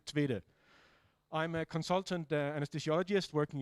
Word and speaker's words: Tvede: Yes, name is Michael Tvede. At least that's how you pronounce it internationally, I think. In Danish, it's Tvede, but you cannot say that, so we'll stick to Tvede.